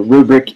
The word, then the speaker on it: RuBrick: So rubric in because it sounds like a grading rubric.